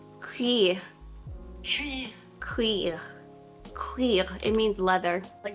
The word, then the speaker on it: cuir: I think that's how you pronounce it. Let me just double check, make sure I'm saying it right. Cuir.